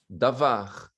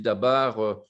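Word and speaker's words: דבר: De toute façon, c'est la même lettre, mais parfois on prononce V, parfois on prononce B.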